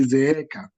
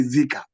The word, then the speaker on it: zeeka: You can pronounce it as zeeka, not zika. You know, in English, if you are to pronounce in English, you could say zika, which is a double A. So you'll actually say zika.